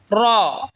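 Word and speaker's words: ر: জিহবার আগা সামনের উপরের দাতের আগার সঙ্গে লাগা উচ্চারণ হবে জাল এই সা যেখান থেকে উচ্চারণ হয়েছে সেখান থেকে জাল উচ্চারণ হবে এরপর হল র জিহবার আগার পিঠ তার বরাবার উপরে তালের সঙ্গে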